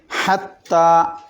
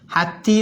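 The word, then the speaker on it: حَتَّىٰ: അലിഫ് വരുന്നത് അങ്ങനെ ആകുമ്പോൾ ഹത്തീ എന്ന് ഓതരുത് ഹത്താ എന്ന് അകാരമാക്കി ഓതണം എന്നതിനാണ് ആ മിഡിലിൽ ആ നഗ്നമായ അലിഫ് ഇടുന്നത് അതിൽ അടയാളം ഒന്നും ഉണ്ടാവില്ല വെറും ഒരു അലിഫ് ഇങ്ങനെ കാണാം അത് ഹത്താ എന്നുള്ളത് അകാരമായിട്ട് ഉച്ചരിക്കണം മുകളിലോട്ട്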